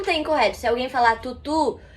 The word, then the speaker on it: tutu: Na verdade, a pronúncia correta é tutu, que é exatamente entre o U e o I. Então não tem correto. Se alguém falar tutu, e alguém falar titi, aí você vai falar, ai, tá errado.